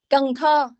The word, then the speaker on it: Cần Thơ: I'm sorry, can you pronounce that name, please? Canto. Cần Thơ.